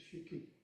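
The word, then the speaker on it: 色: fuli, ku, fuli, shiki, shiki is a double syllable in one beat. And typically the last I in that is not shiki, it's not an emphasized, it's shiki, it's more like an out breath.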